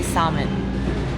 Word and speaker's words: salmon: at how I say salmon. Yeah. But I say it good now. or Salmon. no? Yeah. It's so, Do you English- pronounce the L or no?